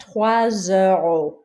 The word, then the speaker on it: trois euros: But here, trois euros. Trois euros. The S sounds like a Z.